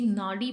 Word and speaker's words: नाडी: Next है आपका नदी, जिसे कि नाडी प्रोनाउंस्ड किया जाता है।